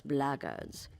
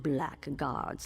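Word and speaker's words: blackguards: another one of those blackards and that's the way to pronounce it not black guards like that Thug insisted it was then my answer is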